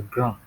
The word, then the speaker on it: grand: Now, tall in French is pronounced as grand.